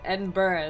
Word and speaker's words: Edinburgh: No, that's the wrong pronunciation. Edinburgh is the correct.